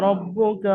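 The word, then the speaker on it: ربك: রব্বুকা, হারাকাতের কায়দা, রয়ের উপরে জাবার, রকে পুর করে পড়তে হবে।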